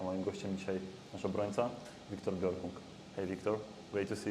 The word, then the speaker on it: Björkung: Björkung. Björkung. So yeah, you have the O with the two dots. It's pronounced Okay, because many people say Björkung. Yes. Yeah, it's the easy way.